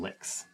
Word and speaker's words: Lix: that your phone name Lix it's pronounced um licks you um licks yes